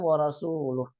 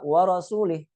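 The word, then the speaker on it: ورسوله: Bikasrillam wa rasuluh. Jadi bacanya apa? Wa rasulih. Annallaha bari'um minal musyrikin wa rasulih.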